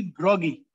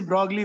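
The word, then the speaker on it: Broglie: देखो पढ़ने वाले इसे ब्रोगली पढ़ते हैं, ब्रोगली नहीं पढ़ना है, फ्रेंच जो होते हैं ना, फ्रेंच लैंग्वेज अगर किसी को आती हो तो वो एल साइलेंट होता है उसमें, तो एल नहीं पढ़ते, इसका नाम होता है ब्रोगली लिखा हुआ है, बट इसको पढ़ना है ब्रोगी, क्या नाम है इनका, डी ब्रोगी।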